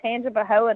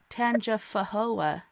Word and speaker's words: Tangipahoa: can't pronounce it oh i had it spelled wrong last time so i thought it was tanja fahola and then you're like